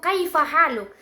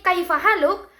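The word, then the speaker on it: كيف حالك: Maka jelas di sini kaifa haluk, tekanan stres itu jatuh pada suku kata kai dan ha.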